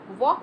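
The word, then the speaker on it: walk: एंड वॉक, वॉक बोल रहे हैं ना, वॉक L नहीं आ रहा ना बीच में बोलने में, प्रोनाउंसिएशन में, तो इसलिए से साइलेंट लेटर L होगा।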